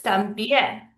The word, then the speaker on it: también: So también is pronounced like this, también. So it ends in an N. We're supposed to stress the second to last syllable, but we're stressing the last syllable.